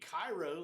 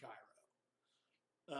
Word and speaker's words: Cairo: us to pronounce it like they pronounce it you would think they would want it to be cairo um and it confuses people i mean my son for ages he called the place in egypt cairo you know and and